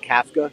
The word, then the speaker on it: Kafka: It's actually pronounced Kafka, and he's calling plays.